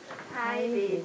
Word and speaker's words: tidied: This has very strong t. Tidied. Tidied. This is just tied.